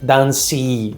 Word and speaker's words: dance: Dance termina com c e, só que você não fala dance, dance, não. É dance, como se você lesse d a n s.